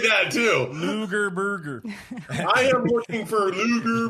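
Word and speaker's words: Loughborough: bger she has sound just like that too Luger Burger I am looking for Luger Burger it took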